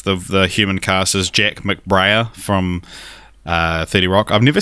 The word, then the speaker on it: McBrayer: I thought it was McBrayer. Yeah. What do you think, Nadeshda? How do you pronounce it? I would say McBrayer, but I always pronounce things wrong, so you should probably go with That's McBrayer. That's true for McBrayer.